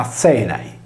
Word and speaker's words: Ἀθῆναι: come la più importante città greca di Atene, pronunciata Azenai, che ha preso il nome dagli Azeni sardi.